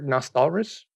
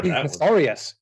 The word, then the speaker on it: Nostalrius: The server Nostalris. Like is that how you some pronounce really weird. Yeah, Nostalrius. Okay, the famous private server